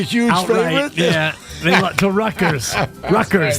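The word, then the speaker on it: Rutgers: favorite yeah they to Ruckers Ruckers the t is silent by the way Ruckers yes ruers Ruckers Ruck Ruckers it's kind of they turn a t into a k anyway go if you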